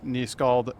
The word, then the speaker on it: nyskald: I'm nyskald, by the way. In case you were wondering how to pronounce the name, it's a Norse thing.